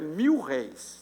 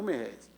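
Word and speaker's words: mil-réis: A pronúncia correta é 1.000 réis, não merréis.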